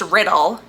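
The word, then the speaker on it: Riddell: riddle just found out it's just pronounced riddle as in the word even though it's not spelled the same way okay whatever anyway the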